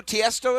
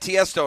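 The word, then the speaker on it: Tiësto: E.T., do you know who Tiesto is?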